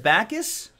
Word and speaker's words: Backes: don't know Zac Rinaldo pronounced Backus drew this guy well why doesn't he spell it like that then drew here's the official